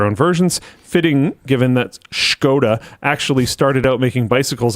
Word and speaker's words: Škoda: pronounced Škoda.